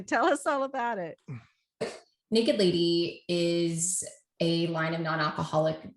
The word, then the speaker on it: NKD LDY: It's spelled NKD LDY. And please, Becca, tell us all about it. Naked Lady is a line of non-alcoholic distilled spirits made from real spirits.